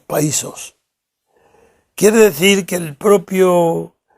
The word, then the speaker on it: països: manera un poco rara con la pronunciación también se habla de los països catalanes no los países sino los països quiere decir que el